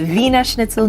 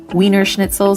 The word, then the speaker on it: Wiener Schnitzel: It's Wiener Schnitzel, not Wiener Schnitzel, so be sure to pronounce it correctly because they can be a bit picky about that. Now, just like in Germany,